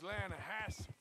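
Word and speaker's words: Lannahechee: The other day, I rode down to the Lanahatchee River. I caught some beautiful steelhead trout. You mean the Lanahatchee River? No. The Lanahatchee. It runs right near here. Yeah, but it's pronounced Lanahatchee.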